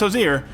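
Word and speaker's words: Hozier: copy today check this out the Matt Mercer josier meme based on a t-shirt that just says Hosier at the top in big letters but is full of pictures of Matt Mercer and yes it is pronounced josier we had to double check that about 12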